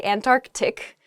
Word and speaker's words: Antarctic: saying this word quickly you might leave out that first sea in the Antarctic so don't say that don't do that say Antarctic the the very very